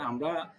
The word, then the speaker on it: a: আমরা যখন আর্টিকেল হিসেবে এই শব্দটা ব্যবহার করব তাহলে এটার উচ্চারণটা হবে আ।